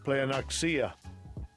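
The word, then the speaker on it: πλεονεξία: Let's let's hear it pronounced. Strongs. G4124. Playoxia. Playoxia. Playoxia.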